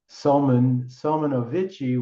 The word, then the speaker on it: Salmanovici: So these verses through the Salman was Salmanovici, which in Romanian, correct me anybody out there, it's Salmanovic. You don't pronounce the I, like with Hush, like with Faltacen, like with the Ash.